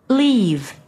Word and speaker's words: leave: Leave. Live. Leave. Live. 그 앞에 거 leave는 장음이고 뒤에 거 leave 하게 되면 짧은 발음이 나죠.